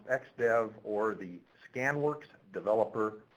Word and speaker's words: XDF: works and that is something which we call the xdf pronounced xdev or the scan Works